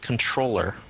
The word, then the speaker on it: comptroller: Apparently, it's supposed to be pronounced controller, which doesn't make sense.